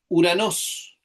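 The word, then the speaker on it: οὐρανός: Este nuevo término se lee Uranos. Uranos. Recordamos otra regla del espíritu. El espíritu suave se escribe con una curva hacia la derecha y ese espíritu suave no suena, es una marcación simplemente.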